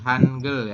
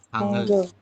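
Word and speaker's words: 한글: Hangul. Oke. Masih Hangul ya. Nanti kalau udah aturan baca jadinya Hangul. Hangul. Bukan hang.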